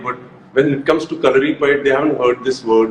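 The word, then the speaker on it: Kalaripayattu: So, Calorie Pad, Hrithik, I'm so proud of the fact that you said the name correctly because in India, I Thank don't you.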